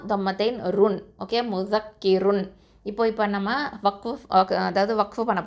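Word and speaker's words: مُذَكِّر: அப்போது முஸக்கிர், ஓகே, முஸக்கிர். இப்போது இந்த ரா சுக்கூனை வந்து என்ன பண்ணுவோம்? தர்க்கிக்காக தான் ஓதணும், அதாவது மெல்லினமாக தான் ஓதணும், ரொம்ப வந்து அழுத்தமாக நம்ம உச்சரிக்கக்கூடாது. முஸக்கிர், ஓகே, அவ்வளவுதான். இப்போ இதை எப்படி சொல்லணும்?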